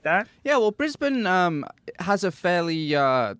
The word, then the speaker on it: Brisbane: do have to make a quick correction it's pronounced Brisbane so BR bris brisban you're going to want